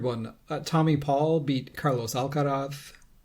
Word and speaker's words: Alcaraz: Tommy Paul beat Carlos Alcaraz. I pronounce that how Carlos pronounces it.